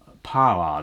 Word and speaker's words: paroir: The other one you get in France for making sabots, which are all wooden clogs, is the paroir. That's spelled P-A-R-O-I-R.